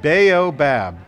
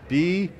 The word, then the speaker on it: Baobab: Baobab. B-A-O-B-A-B Studios in Redwood City, California.